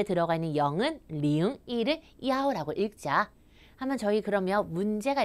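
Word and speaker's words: 幺: 우리가 버스 노선에 속한 숫자 0도, 0, 1도, 야오라고 읽어요. 401번 어떻게 얘기한대요?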